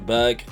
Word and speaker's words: Berg: The CH in Gravenberch is pronounced the same way as Patrick Berg, so it's Gravenberg.